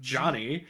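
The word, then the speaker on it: Gianni: We meet Johnny, which that is how you pronounce it, or that's how the American dub pronounces it, which is spelled Geani. Johnny.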